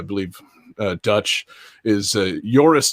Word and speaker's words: Joris: uh dutch is uh joris damon or possibly jorus it looks like boris but spelled with a j i'm going with joris uh joris damon who